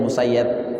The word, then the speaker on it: Musayyab: Ya, ada tabi'in namanya Said bin Musayyib atau Said bin Musayyab, ya, Musayyab ya. Sebenarnya Said Musayyib tapi dibacanya Said bin Musayyab.